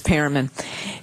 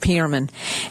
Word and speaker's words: Perlman: It's Pearman. Anyway, that's okay. In the South, they pronounce it Pearman.